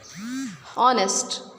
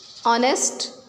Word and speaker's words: honest: Ghost, school, honest, what and when. These are words in which we are not pronouncing H. Ghost, ghost, school, honest, what, when.